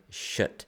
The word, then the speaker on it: kött: me coming here was the word shit, which means meat. Now, it's not to be confused with another word, which is spelled S-H-I-T, but the word sounds close enough in my brain to be the swear word in English.